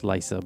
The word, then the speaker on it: Lysa: Lisa Lysa Lisa uh it's it's pronounced Lysa but uh you spelled l YSA you know so Ela oh it's like a weird spell okay go thank you